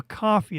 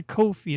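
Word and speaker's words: Ko-fi: We're buying you a coffee. That's a coffee. That's a Kofi. That's not a coffee. You misspelled coffee. Nah, I'm joking. I know everyone pronounces it like that.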